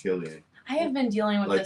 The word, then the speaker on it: Cillian: But with all that said about Cillian Murphy, he was not the best performance. I thought it was pronounced Cillian. I thought so too until I heard him in an interview and it's Cillian.